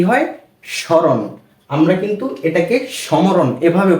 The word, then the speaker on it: স্মরণ: ফলার উচ্চারণটা আমরা করিনি আমরা স্মরণ এভাবে পড়েছি কিন্তু ম এর কোন উচ্চারণ আসেনি কেননা যদি কোন শব্দের